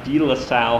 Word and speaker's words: DeLaSalle: go to high school well in Minneapolis it's pronounced DeLaSalle high school so it's in so if your